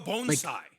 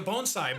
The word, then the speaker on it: bonsai: bonai um like a bonai but it's a mushroom you know like bonai trees yes no oh Bonsai yeah bonai oh you went to Japan I'm sorry I forgot sorry that's the actual pronunciation are we leaving this